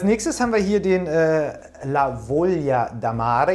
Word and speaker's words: La Voglia d'Amare: haben wir hier den lavolia damare jetzt habe ich das endlich mal richtig ausgesprochen ich habe das nämlich vorher